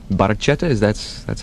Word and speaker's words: Barchetta: Tune is called Red Baretta. Baraceta. Is that's that's how it's pronounced officially?